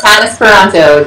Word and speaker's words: Tanis Parenteau: well except for my name is difficult to spell it's Tannis Ponto t a n i s p a r